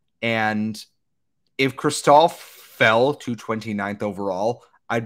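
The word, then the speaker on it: Cristall: I keep mispronouncing him as Crystal, just like yours is Matevi. It's Matvey. It's Cristal. I keep yelling at myself.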